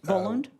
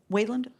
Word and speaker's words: Wayland: Did I pronounce it right? Voland. Wayand. Yeah, Wayland. Oh, it's a soft uh named Yeah.